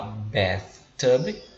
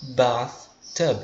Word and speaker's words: bathtub: Ou seja, esse som de A aqui em cima, no inglês, dependendo do país que você esteja falando inglês, a pronúncia pode ser um som de E, tipo bathtub, ou ela também pode ser com som de A, soando uma coisa parecida com bath, tá bem?